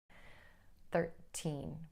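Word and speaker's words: thirteen: The stress pattern shifts to the first syllable when you're counting because it helps to distinguish one teen number from the next teen number.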